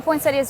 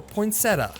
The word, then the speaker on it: poinsettia: One other misconception the dwartes like to point out is the pronunciation of the plant. Poinsettia or poinsetta. Either way. Either way. Either way. Poinsetta. Poinsetti.